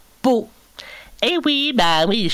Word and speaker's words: Pau: Ben oui, Pau avec un P, bien sûr, P. Alors, Pau. Oui, comme ça s'écrit, pareil. Pau.